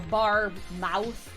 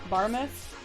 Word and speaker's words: Barmouth: was a beach in barmouth um I believe it was a beach in a place called barmouth uh you know bar mous but barmouth um but then the